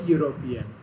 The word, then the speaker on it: European: Okay, but here the letter E produces the sound U. So that is why we cannot place here an, we have to place A, because U sound is considered as consonant sound.